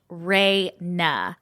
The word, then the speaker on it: Raina: You can say my name, it's pronounced Reyna.